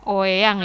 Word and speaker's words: Oeang: Indonesia atau ORI ya, tulisannya uang ya karena sesuai dengan ejaan pada waktu itu. Oyang ya Bu ya.